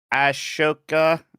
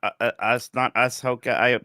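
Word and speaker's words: Ahsoka: right Ashoka, not Ashoka.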